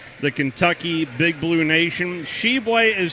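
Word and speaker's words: Tshiebwe: keeping score at home how do you spell shebway for oscar sheblay the uh big man there for the kentucky big blue nation sheboy is spelled t-s-h-i-e-b-w-e oscar sheblay and he hails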